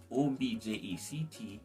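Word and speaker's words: objek: r-e-s-p-e-k so instead of instead of object o b-j-e-c-t it would be o-b-j-e-k so object respect subject project and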